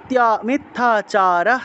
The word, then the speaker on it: মিথ্যা: মিথ্যাচারস, মিথ্যাচারः স উচ্যতে, মিথ্যা, থয়ের সাথে জফলা আছে না, তাহলে মিথ্যা, মিথ্যা, অনেকে মিথ্যা মিথ্যা বলে ফেলেন, মিথ্যা হবে না, মিথ যোগ ইয়া, মিথ্যা, মিথ্যাচারস উচ্যতে, মিথ্যাচারস উচ্যতে এইভাবে।